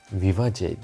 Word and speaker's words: Vivace: Bugün sizlerle like Sam'ın Viva c diye okunuyor herhalde de başka bir şekilde sarkısı